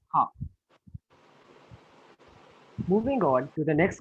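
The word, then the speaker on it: ห้า: The correct answer is because 5 in Thai is pronounced as ha.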